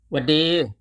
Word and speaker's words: หวัดดี: ฮัลโหล people it becomes ฮัลโหล ครับ ฮัลโหล ค่ะ หวัดดี หวัดดี หวัดดี This is a casual version of